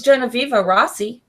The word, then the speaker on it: Genoveva Rossi: She's really we're friends on Facebook, but I've never heard her speak, so I wasn't exactly sure how to pronounce her name. I think it's Genoveva Rossi.